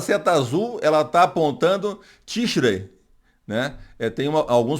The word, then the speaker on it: Tishrei: Essa seta azul, ela está apontando Tishrei, né? Alguns pronunciam Tishrei, o Ei, dá ênfase no I, né? No tradutor que eu uso para ver o som é Tishrei. Ele não sai o som do I.